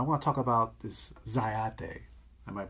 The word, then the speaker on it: Zyathé: setting but I want to talk about this dyad day I might pronounce that right that's correct all right a